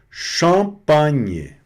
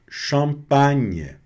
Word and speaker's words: champagne: Champagne. Champagne. Champagnhe. Que o GN aqui vai est um som de NH no no português, né?